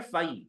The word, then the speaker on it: phi: लिख लो PHI, इसका pronunciation we call it फाई।